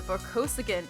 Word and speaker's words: Vorkosigan: I want to live in the universe of today's book, where Alex wanted to live in the universe of the Vorkosigan universe.